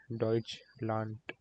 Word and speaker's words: Deutschland: In German language, this is pronounced as T. Whenever we have D at the end of a word.